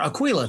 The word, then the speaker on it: Aquila: um uh oh shoot the aquila theater or aquila theater as they pronounce it um theater and